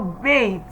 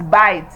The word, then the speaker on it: bait: So we do not look at this word in number 1 and say because it's a combination of B-A-I-T, so it's bite. No, it is bait.